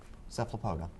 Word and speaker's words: Cephalopoda: Cephalopoda. Okay. I'm pretty sure that's what y'all said, right? Yeah. The problem is both of you are leaving out a syllable. It's cephalopoda.